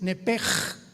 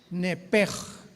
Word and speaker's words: nepesh: Nepesh se pronuncia en el hebreo como J-L-S-H, es nepej, nepej. Por eso el Espíritu Santo se pronuncia Ruach, se escribe Ruach, CH, Ruach el Kadosh. Entonces la SH se pronuncia como J en el hebreo.